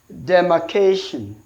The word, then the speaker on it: demarcation: pattern will be so since a is a noun an ending in Sean mostly they take penultimate Slavic stressed so that is penultimate that is possible for the last the next to the last syllable so demarcation option A